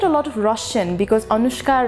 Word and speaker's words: Anushka: lot of russian because anushka rhymes with babushka and babushka apparently are